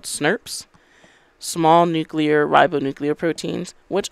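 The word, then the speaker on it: snRNP: special rnp complexes called snurps small nuclear ribonuclear proteins which i know this does not look like it should be pronounced snurp but trust me it is it's also got dozens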